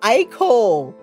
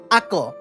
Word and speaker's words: Ako: is wrong with you aiko and i know i'm saying your your name wrong because it's ako your name is ako but i'm going to say aiko because you're i hate